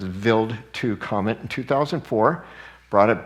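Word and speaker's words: Wild 2: of the build to it's spelled wild too but it's a German so it's veiled to comet in 2004 brought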